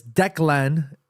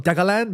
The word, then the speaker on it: Declan: Murph says it's Declan. It's Irish, so no extra syllable. No, I know it's Declan. I call him Degalan because I remember doing